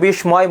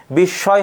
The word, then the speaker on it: বিস্ময়: সাধারণত বিস্ময় অনেকে উচ্চারণ করে বিস্ময়, ময় হবে না, বিস্ময় হবে।